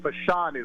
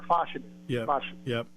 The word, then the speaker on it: Fashanu: I think my greatest thing after the game, help me with the pronunciation here. It's Olu Fashanu, right, or Fashanu?